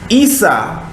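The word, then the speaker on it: عيسى: Arabic again for yahushua ISSA sounds like Esau but it it is the same thing no one is spelled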